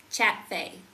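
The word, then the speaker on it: ChatFAI: Uh it's like chat f ai, but I pronounce it fay because I think of fay like uh fairies. F a f say fairy folk.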